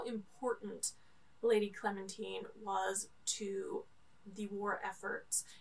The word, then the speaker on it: Clementine: this is all about clementine sorry i said it wrong the first time it's clementine lady clementine this is a